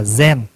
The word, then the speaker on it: Zen: Thì người Hoa đọc là Chan. Người Nhật á, đọc là Zen.